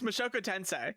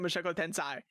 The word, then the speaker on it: Mushoku Tensei: the moku Tensai undoubtedly why is he pronouncing it like this it's moku tensei moku tensei why are you pronouncing it Mok tensi what the are you